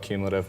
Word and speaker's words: Qmulative: about the name why cumulative cumulative yeah so again it started as like a blog online feed as simple as my name is you know about cumulative what with a queue I do get some